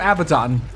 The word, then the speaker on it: Abaddon: kept calling him abaddon i think both pronunciations are valid but i i uh i play a lot of persona so i tend to hear like abaddon because that's how they pronounce it in that series also this guy is